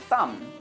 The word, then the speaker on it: thumb: in these words, but he always pronounced, or at least tried to pronounce, the B in words like thumb or dumb, and the W in words like right or wrong.